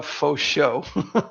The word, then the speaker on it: Faucheux: It's uh Foso. Just literally for show.